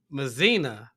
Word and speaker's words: Mazina: My name rhymes with Tina. If you read mine, Mazina.